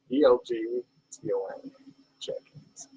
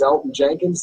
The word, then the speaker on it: Elgton Jenkins: And now number 3, do you pronounce the G in the name that you're going to say for your takeaway? ELGTON Jenkins. But it is Elton Jenkins. The G is silent.